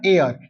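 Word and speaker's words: heir: उसी प्रकार एयर एन एयर इ आई आर एच का साइलेंट होता है।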